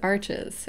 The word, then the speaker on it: Arches: my second favorite is Arches and I think the correct pronunciation is actually something like Arch but I'm probably butchering that that's um also 100%